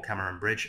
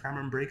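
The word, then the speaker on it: Cameronbridge: Scotland, Cameron Brigg, or Cameron Bridge. I think it's actually pronounced Cameron Brigg, although it looks like it says Bridge. It's a Scottish thing.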